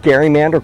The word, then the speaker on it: gerrymander: cartoon that he drew that word gerrymander course today with a soft G rather the heart gene don't ask me why